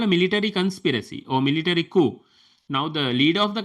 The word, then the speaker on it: coup: He was killed because of a military coup.